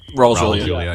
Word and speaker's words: Raul Julia: Raul Julia, am I pronouncing his name right? Raul Julia, yeah.